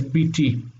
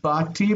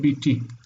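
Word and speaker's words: בִּתִּי: So my daughter is biti, not bati, but biti.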